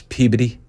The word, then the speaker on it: Peabody: It's Peabody.